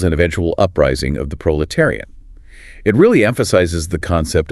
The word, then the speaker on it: proletariat: Proletariat pronounced prolanire lidotary that middle section those syllables terry seem complex and often missed careful articulation is needed there it is tricky